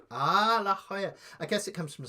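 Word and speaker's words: La Jolla: Ya Lola is pronounced La Hoya. Ah, La Hoya.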